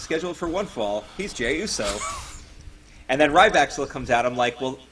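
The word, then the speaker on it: Jey Uso: I'm like okay so J Uso is losing oh it's j Uso I always pronounced it juo I thought they were uh Jewish Samoans juo silly Vin I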